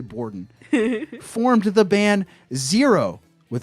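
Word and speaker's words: Bourdon: It's spelled like a French word, but I'm going to say Bordon formed the band Zero with an X after graduating with Shenoda producing hip-hop beats and rapping.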